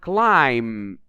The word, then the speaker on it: climb: The second word, climb, the B is in red, so we don't pronounce it.